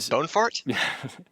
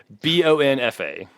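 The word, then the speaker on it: Luiz Bonfá: And Bonefart? Bonfa.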